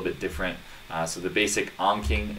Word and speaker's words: Anki: which by the way if you don't know how to pronounce it it is anki it comes from the